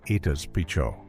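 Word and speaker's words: Itazipčo: also known as Nobos, Itazi Pico, pronounced Itas Picho.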